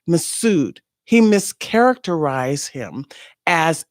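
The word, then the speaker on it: Mifsud: misfud how do I say his name misud massud yeah that's how you pronounce it m f s u d massud he misar characterize him as a Russian intelligence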